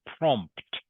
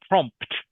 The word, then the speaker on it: prompt: It's pronounced prompt. Prompt. Prompt. Prompt. Prompt. Okay. You have to try and pronounce both the P and T at the end of the word.